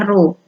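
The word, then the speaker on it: ρ: disebut dengan kerapatan dilambangkan dengan huruf ro nih membacanya ruh nah yaitu hasil bagi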